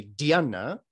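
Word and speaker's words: dhyāna: move into what is called a gianna in pali or a diana in sanskrit same word different pronunciation but the idea is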